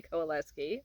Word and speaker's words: Kowalewski: see that I've done that um I can spell it all for you if you need me to coleski I totally did that um I ended up